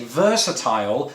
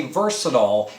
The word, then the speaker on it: versatile: just a moment ago i say versatile just like i say crocodile whereas americans say versatile and crack a doll they don't say crocodile it's crocodile as well so language is